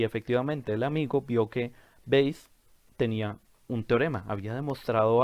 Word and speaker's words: Bayes: quién fue tomás veis nosotros lo pronunciamos valles pero en verdad su nombre es tomás veis nació en 1702 murió